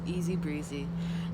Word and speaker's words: ESZBRZE: of people are asking me how do i pronounce that it's easy breezy now the story behind that is that in